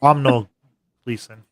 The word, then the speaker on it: Domhnall Gleeson: Brendan Gleeson's son, who I can't pronounce his name to save my life because it's a very Irish name. Domhnall Gleeson.